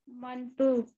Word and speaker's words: मंटू: मंटू। मंटू नाम है। मंटू। मंटू, एक बात अच्छी तरह मंटू।